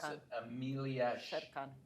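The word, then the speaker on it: Șercan: You'll help me Emilia pronounce Sherkan. it. Amelia Sherkan. Sherkan.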